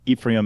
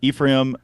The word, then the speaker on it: Ephraim: Yeah, so it's Ephraim or Ephraim or Ephraim. There's so many different weird pronunciations of my first name. Every country I go to says it's supposed to be said a different way.